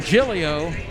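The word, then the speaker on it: Giglio: this is gillio madeleine gillio last name is spelled g-i-g-l-i-o pronounced gillio freshman from metairie louisiana right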